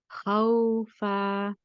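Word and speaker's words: خَوْفًا: After saying ha, you switch to a nice light waw. And the back of the tongue has to be very relaxed, and the back of the mouth should be very open and clear. There should be no lifting of the back of the tongue or pushing back of the tongue, anything like this. You relax that when you are saying the waw.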